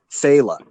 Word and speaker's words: Phaeleh: got to check out Phaela, which is spelled Phaeleh.